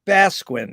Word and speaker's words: Basquin: But it's really an honor and a pleasure to be here with Basquin. Is that right? How to pronounce it? Absolutely perfect.